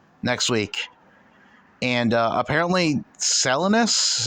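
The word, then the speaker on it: Salinas: four shows left next week and uh apparently selinus is how you pronounce it California is a non-points event from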